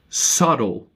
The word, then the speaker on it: subtle: Subtle. Subtle. SUBTLE. Silent letters in English words are common.